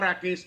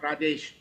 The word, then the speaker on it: Rakesh: Uh, my name is Rakesh, not Rajesh, as you pronounced.